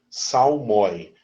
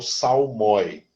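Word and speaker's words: psalmoi: uma palavra grega né em grego até a pronúncia é salmi salmi no singular salmos e no plural salmi tá Salmos em português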